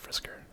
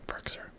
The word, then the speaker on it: Firkser: I think it's pronounced Frisker. I don't know. Firkser.